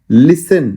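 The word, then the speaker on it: listen: लिसन लिसन में टी कहीं भी नहीं आता है।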